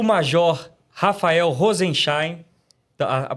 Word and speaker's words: Rozenszajn: Hoje no Resenha Brasil Política, nós temos a honra de receber aqui o major Rafael Rosenstein. A pronúncia tá certa aqui, major?